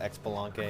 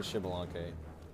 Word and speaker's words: Xbalanque: fact about shibalonke I used to call it expelunke because I didn't know how to pronounce it so I was like it's actually shibalonke who knew like if you didn't know that